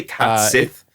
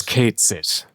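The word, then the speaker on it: Cait Sith: to get it right I say cat Sith but it's Kate it Kate it oh yeah they do say Kate in this don't they Kate it it's actually uh it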